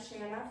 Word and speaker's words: Shanna: A lot of people mispronounce my name, and that's okay. But I'm Shanna from Louisiana, if that helps.